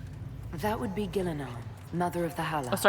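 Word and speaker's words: Ghilan'nain: That would be Gillanon mother of the hall. Oh sorry. Gillanon. I keep calling her Gillan.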